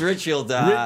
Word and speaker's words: Ridgefield: Like, I know I'm going to mispronounce it wrong. It's River something. Ridgefield. It's not even River. Ridgefield. River Ridge. It's Ridgefield.